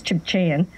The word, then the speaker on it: Tsimshian: who now lives, and the proper pronunciation is Chibchayan, from the West Coast, Prince Rupert area.